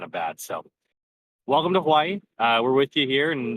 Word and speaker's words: Hawaii: As the locals say, Hawaii. There's like a pause.